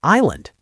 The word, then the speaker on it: island: The old English word was igland which eventually became island. No s.